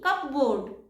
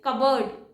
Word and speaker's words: cupboard: Cupboard. And the correct pronunciation is cupboard. It's not cupboard, it's cupboard.